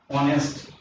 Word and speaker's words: honest: So we can say, for example, he is honest man. Since this word makes a vowel sound in the beginning, though it has a